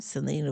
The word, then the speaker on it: Selena: It is Selena.